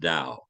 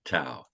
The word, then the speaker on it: Tao: the Dow of sales it's spelled Tao it's pronounced Dao not Tao Dao sales why did